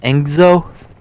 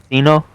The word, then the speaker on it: Casino: But I don't know how to say his name. Enzo? Or I've been saying Zeno. Casino? Okay, Casino. Yeah, Casino. Full response.